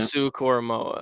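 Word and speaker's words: Owusu-Koramoah: Owusu Koromoa, that's how you say it.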